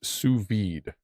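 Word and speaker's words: sous vide: Pronounced suvid.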